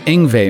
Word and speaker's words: Yngwie: … as in "No one plays as eff-ING fast as ING-VAY, man."